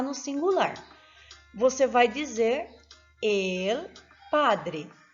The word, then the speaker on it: el: Observe que você não pode pronunciar el. Esse el, o L terminando com o som de U no final, igual ao português, no espanhol você não vai utilizá-lo dessa forma. Você vai pronunciar el.